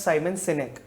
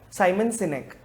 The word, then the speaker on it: Sinek: So there's a public speaker known as Simon Sinek.